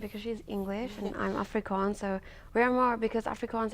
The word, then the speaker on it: Afrikaans: So tell us a little bit about the Africans. Oh, the Afrikaans. Afrikaans. Sorry, I should pronounce it well. It's Afrikaans.